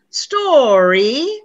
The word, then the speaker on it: story: students make this mistake it's history three syllables story two syllables and store one syllable you see that difference so cinderella was a great story we need to pronounce two syllables not one not three okay i know we're